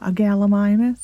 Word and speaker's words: Gallimimus: Gallimimus is in there.